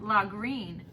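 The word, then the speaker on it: Lagrein: This is pronounced La Green. Silverscape La Green.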